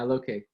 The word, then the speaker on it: Lokay: We are doing our very first ever video podcast with the amazing, how do you pronounce your name? Lokay. Lokay? Okay, yeah, Lokay.